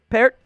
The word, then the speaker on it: Peart: Right tackle, Matt Peart. Or Pert? How do you pronounce it again? Peart.